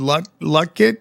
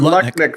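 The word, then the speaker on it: Lutnick: I mean, we have this Howard Lucket. Is that how you say his name? Howard Lucket. Howard Lucknik from Fitzgerald, Secretary of Commerce.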